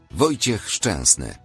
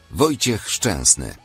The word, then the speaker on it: Wojciech Szczęsny: 20 footballers' names you are pronouncing wrong. Sokratis Papastathopoulos. Sokratis Papastathopoulos. Jakub Błaszczykowski. Jakub Błaszczykowski. Wojciech Szczęsny. Wojciech Szczęsny.